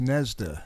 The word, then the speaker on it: Gnezda: Well, you spell it G nea and it's pronounced NESDA. You just dropped the G off.